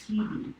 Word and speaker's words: Hebe: Shebe or Hebe? It's Hebe, Hebe. Okay. And of course, I'm sure the Greeks pronounce it differently.